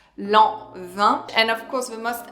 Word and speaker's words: Lanvin: Of course, Lanvin is such an iconic fragrance brand, so pronounce Lanvin.